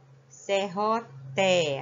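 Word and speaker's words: serrote: Serroté. A pronúncia é ti, mas é escrita com E.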